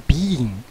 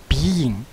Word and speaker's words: being: 这个是 ng，所以舌头向下，而且要念长音，所以念成 being being being，舌头向下。